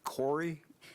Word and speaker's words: PCORI: further comments or questions that's pronounced corey it's actually the patient centered outcomes research institute i'll mark that down in